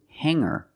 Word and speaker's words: hanger: change sing to singer when I change these words with e i don't pronounce the G sound it's just the nasal M linked together with the r together hang hanger there's no G sound I cannot say hanger